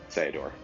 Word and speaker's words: Ceodore: say theodore and cecil it's not cecil cecil uh so sayador it's a combination of the names i think it makes the most most amount of sense anyway um my biggest